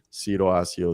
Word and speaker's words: Cyro Asseo: That's why I look like a foreign fuck, and I have my name is, if pronounced correctly, is Ciro Asio de Coq.